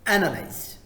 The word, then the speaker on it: analyze: It's not analyze. No, it's analyze. Analyze.